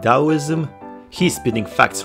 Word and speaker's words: Taoism: the pronunciation of taoism everyone seems to refer to him as tau taoism taoism taoism even though the us pronunciation of it is dao but i know in uk it's tao but they are not from uk they are from america so it should be dao but maybe i am